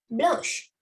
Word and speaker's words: blanche: So blonde, blanche, blonde, blanche. The sh sound is there.